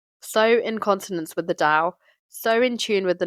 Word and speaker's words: Tao: implementation aspect of the tow Dao sorry it's pronounced Dao and dosm but it's spelled to and taism